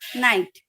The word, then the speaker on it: knight: Now when K and N comes together, K remains silent. You only hear the sound of letter N, which is na.